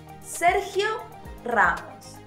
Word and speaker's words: Sergio Ramos: Sergio Ramos. Again, roll those R's.